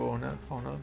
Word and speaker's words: honor: Actually, badge of honor for honor, no H for deleting code. Do you pronounce H or no with an honor? Honor. It's silent. Honor.